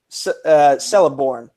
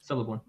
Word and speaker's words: Celeborn: Which New Zealand-born actor played Celeborn? Did I pronounce that right? Yeah. Yes. Celeborn.